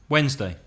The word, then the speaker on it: Wednesday: Wednesday. See, I would say Wednesday. I say a D, you don't really say a D.